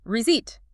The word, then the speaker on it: receipt: We do not pronounce the P. We just say receipt. The P is completely silent.